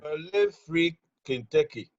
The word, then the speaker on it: Poulet Frit Kentucky: Please pronounce it for us. Fendi is one of them. Poulet Frit Kentucky.